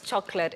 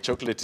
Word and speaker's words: chocolat: Let's say, what is chocolate in French? In French, chocolate is actually chocolat.